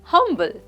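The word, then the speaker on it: humble: की तरफ जो है हमल हमल दो सिलेबल वर्ड है हम और बल हमल हंबल का मतलब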